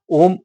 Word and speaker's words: ओम: में लगाकर बैठ के ओम धनि का ध धनि का उच्चारण करते हैं पहले आ आता है फिर उ आता है फिर म आता है फिर सबसे लास्ट